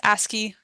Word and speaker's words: ASCII: It's pronounced ASCII. It's the most common thing you'll hear is just ASCII.